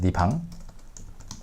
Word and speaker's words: 내 방: Mom, 내 방 치우라고 했지? 네 방. It's pronounced as 네 방.